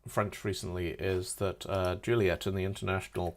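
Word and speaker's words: Juliett: recently is that uh Juliet in the international call sign alphabet is actually spelled with two T's it's spelled Juliet so that French speakers don't pronounce it as julier which I thought was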